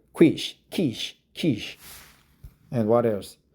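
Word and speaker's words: quiche: pain first there was a YouTube joke about Quicky right is a quish be careful with the pronunciation quish can refer to quish not Quicky right k k okay not quish Kish Kish Kish baked Cur pie baked C Kish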